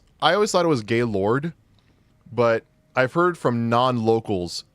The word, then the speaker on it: Gaylord: It's actually pronounced Gaylord, too. I drove through it every single time I went to college. I always thought it was Gaylord, too. But no, it's pronounced Gaylord.